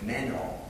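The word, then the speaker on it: μένω: that word abide is a Greek verb that is pronounced as meno meno spelled in English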